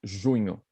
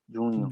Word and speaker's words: junho: The sixth is junho. Juno. Juno. Junho. Junho. Juno. Yeah. Junho. Junho. Junho. It's a little difficult to pronounce the NH. It's a nho sound.